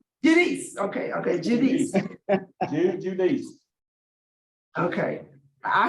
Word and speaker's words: Judice: but he wants to give you the correct pronunciation. It's Judice. no, go ahead. Hi. Say it again. And however you like. No, tell him what you say. It's Judice. Judice.